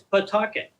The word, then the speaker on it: Pawtucket: I live in Pawtucket, Rhode Island, and it's spelled Pawtucket, and everybody that's not from Pawtucket pronounces it Pawtucket. I actually looked it up in the dictionary to make sure I was saying it right, and you can say Pawtucket. Sure enough, it's Pawtucket.